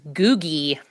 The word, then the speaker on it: Googie: Your answer is googy. Okay. Spelled like Google, but replace that L with an I.